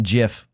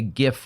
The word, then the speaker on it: GIF: It's like you saying fucking GIF. Oh, and yeah, because that's how you pronounce it.